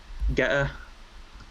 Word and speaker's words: Getter: Getter. I don't pronounce the T's.